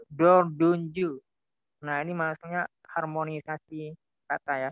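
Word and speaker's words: dördüncü: Jadi T itu dia berubah menjadi D. Jadi tidak dibaca dot tunju, tapi dibaca dot dunju.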